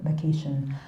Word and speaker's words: McEachern: to his adopted father, Makishan. We have various ways to pronounce that name. I'm just going to pronounce it Makishan. You can pronounce it any way you want.